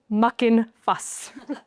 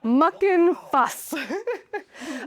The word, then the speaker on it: Muckenfuss: I have to be very careful where I place the F as I pronounce this, because her name was Rosalie Muckin Fuss. Muckin Fuss.